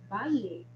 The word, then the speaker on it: vale: Aqui, olha, notem que quando eu vou falar isso, vale, eu pronuncio como se fosse um B, não é?